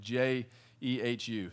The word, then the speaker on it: Jehu: think when we look at the story of jehu what we see is that spiritually good is